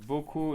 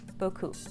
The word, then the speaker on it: beaucoup: So beaucoup is like this. So you have a Perfect. P that you do not pronounce the P. I think you know this one, right? Yes. Okay. Merci beaucoup.